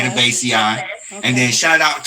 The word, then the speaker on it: Cannabaceae: we'll get to talk about it a little bit, but you definitely are saying it right. It's Okay. Cannabaceae.